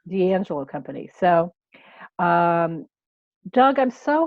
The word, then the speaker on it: D'Angelo: Is that how you D'Angelo, pronounce it? correct. D'Angelo Company.